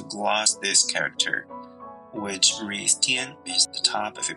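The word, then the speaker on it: 天: Its Old Chinese pronunciation is Klin, and its Middle Chinese pronunciation is Tian.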